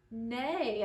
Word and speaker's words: neigh: There's a lot of letters here, 4 letters, but they all make a long A sound.